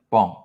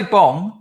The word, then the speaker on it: bong: cambodia calls everyone bomb it's bomb with a g with a silent g bomb you have to sort of the g is like up here bomb if you say bong like every foreigner does